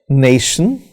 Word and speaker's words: nation: But before that, if I use a word, nation, so nay is stressed, it has two syllables, nay and shin. So nation, in this example, nay is stressed and shin is not stressed.